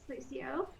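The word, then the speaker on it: Lúcio: You know, nice garage, but it's Lucio, so he's just gonna scuttle away there.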